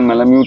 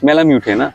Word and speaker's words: Malamute: तो पहली दफा थोड़ा बहुत एक सिंपल सा क्वेश्चन है, एक्चुअल प्रोनाउंसिएशन क्या है? कुछ कुछ लोग बोलते हैं अलास्का मैलाम्यूटो, कुछ कुछ लोग बोलते हैं अलास्का मैलाम्यूट। मैलाम्यूट, मैलाम्यूट है ना।